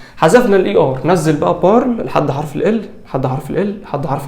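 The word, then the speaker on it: parle: الاي ما بيتنطق طيب ت بارل بارل هتقف عند حرف الال برض الاي اس ما بتتنطق اي وال واوم بارل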